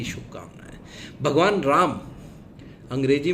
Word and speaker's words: राम: उन्होंने इसको बना दिया राम को रामा शब्दों का छो छोटी सी चीज है शब्दों का सही उच्चारण लॉर्ड राम ही बोला जाएगा इंग्लिश में भी लॉर्ड रामा नहीं है लॉर्ड राम रामायना नहीं रामायण तो